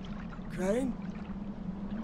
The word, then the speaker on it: Crane: no my name's crane crane crane rhymes with train and brain and S and Grain